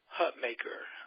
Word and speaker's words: Hutmaker: for for a lot of Reason um hutmaker I hope I pronounced that right as uh my want to